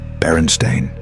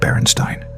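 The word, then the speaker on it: Berenstain: The Baronstein Bears with an A, not an E. Baronstein, not Brenonstein. Maybe your parents said it wrong.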